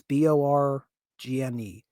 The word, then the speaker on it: Borgne: That is going to be Lake, how do we pronounce this? I want to say Borgne. It's Borgne.